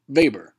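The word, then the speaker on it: Weber: a German Economist and is for this reason we pronounce it vber he devised his model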